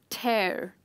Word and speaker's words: tear: but they're pronounced differently upon seeing the tear t a i r is how i would pronounce it but i'd write it